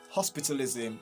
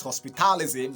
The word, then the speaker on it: hospitalism: So the stress is still going to be at hospitalism, okay? Not hospitalism like many other people will say. If you say hospitalism, you're going to be stressing ta, ta,